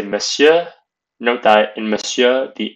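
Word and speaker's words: Monsieur: in that department for Mister you would say Messiah note that in Messiah the N is not pronounced pronounced and miss you could say madam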